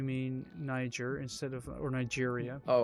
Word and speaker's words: Niger: You mean Niger instead of or Nigeria?